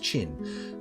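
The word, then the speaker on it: Qin: it's how it's spelled then if you nothing's pronounced chin but apparently he used to drink mercury as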